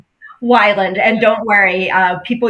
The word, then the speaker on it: Weiland: Wyland, and don't worry.